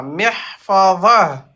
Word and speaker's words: محفظة: Par contre, c'est pas محفظة. za. C'est pas za. C'est C'est pas zatun. Mihfa. محفظة. C'est ça. Va. Va. Vo. Ok, ça c'est le do. Va. Vo. Ok. محفظة. Mhm. محفظة. Voilà.